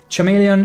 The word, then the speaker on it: chameleon: Chameleon is pronounced as chameleon.